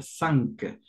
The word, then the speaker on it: cinq: 5 se pronuncia cinq.